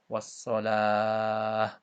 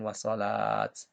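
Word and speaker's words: والصلاة: Ta marbutoh kalau diwakafkan atau berhenti, maka hukum bacanya dibaca ha, ya. Wassalah, bukan wassalat. Kemudian ada gunnah, ya.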